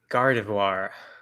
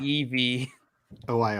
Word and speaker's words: Gardevoir: My word is Gardevoir. I'm sorry. The Pokemon? Yeah. How do you spell? Gardev. Gardev. OIR.